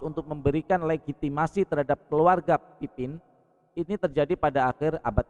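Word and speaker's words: Pépin: Nah, ini terjadi lagi berlanjut terjadi aliansi antara paus dan Raja Pipin dari Prancis. Ini kalau bacanya papang kalau ini kalau dalam bahasa Perancis papang bahasanya. Tapi saya baca bahasa biasa aja.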